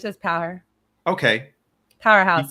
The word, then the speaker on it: Powherhouse: Powerhouse. So when you say it fast, it all goes together. Powerhouse.